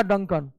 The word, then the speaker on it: Duncan: डंकन pass, डुंकन नहीं होता है, डंकन पास है, DUNCAN, डंकन।